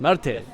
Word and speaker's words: Marte: Marte. My pronunciation is okay, Marte?